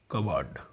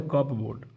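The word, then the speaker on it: cupboard: गया य तो भाई कबड कबड य प साइलेंट हो गया कप बोर्ड लिखा गया हम लो क्या पढ़ते कपड लेकिन प साइलेंट हो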